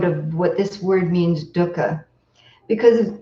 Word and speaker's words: dukkha: want to do Doka you don't want to do Luca it's not dukkha obviously a pet peeve of mine but I think an important one I think pronunciation is important when we're trying to retain this original language of poly so it's duhkha like put up Dakka Dakka okay there I feel relieved